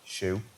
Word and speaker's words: SHU: were either transferred to the special housing units Shu pronounced shoe had their cases re-examined by our in-house judge